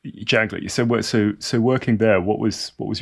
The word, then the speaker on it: Janklow: Is it Janklo or Yes. Yanklo? Janklo.